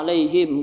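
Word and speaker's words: عليهم: Pada kata alaihim ini juga alaihim ketika ada huruf fathah itu bertemu dengan pria, maka dia lembut ya. Alaihim. Jangan juga sampai kita terlalu lembut. Alaihim. Ini juga kurang tepat. Tapi dia cuma alaihim.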